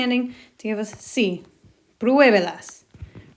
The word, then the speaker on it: pruébelas: Pruébelas. Remembering to put an accent on that first syllable so we still emphasize it.